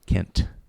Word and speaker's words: Kent: Uh I come back and uh and actually Paul Younger is one of those guys that really pronounces the T on my name. Kent.